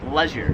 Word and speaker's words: leisure: American pronounces it leisure. I've never heard it pronounced any other way. However, I came here to Australia and they pronounce it leisure.